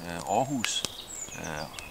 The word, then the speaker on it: Aarhus: And the same Aarhus, 100 kilometers from where I live, where my son lives, it's also with an O, but they also spell it with two A's.